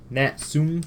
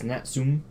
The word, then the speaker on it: Natsume: fun game by uh natsume I think that's name pronounced that company is natum or natsumi I think it's like nsum the their logo if I remember correctly it was like nsum serious fun but this is a